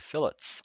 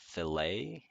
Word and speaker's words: fillet: it by the way this is pronounced fillet not filet it is never filet you don't eat cubes um this function allows